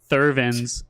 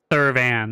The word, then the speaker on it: Thurvan: you said that was Thurvin's Silversmith, so I typed in Thurvin's Silversmith. But no, it was Thurvin. pronounced Thurvan, not Thurvin. Thurvin. But spelt with V-A-N instead of V-I-N.